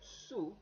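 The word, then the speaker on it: zu: like the Latin American so it's more like an English s so su means you lord sera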